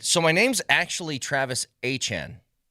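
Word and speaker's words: Etienne: and he said, "So, my name's actually Travis Achen." like pronunciation. It's a a y-chan like Jackiechan. Says, "My name is actually pronounced Achan."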